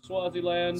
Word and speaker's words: Swaziland: I believe that's how it's pronounced. Yeah, that's Swaziland.